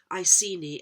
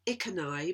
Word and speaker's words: Iceni: I have elsewhere noted the similarity between the pronunciation of this tribe's name, Iceni, Iceni, and Essene, but I've pronounced it in a different way, Iceni, because it seems to fit better with the research I've done, and it also seems